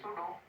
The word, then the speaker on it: pseudo: PSEUDO, this is सूडो, P silent होता है, सूडो solid, ठीक है।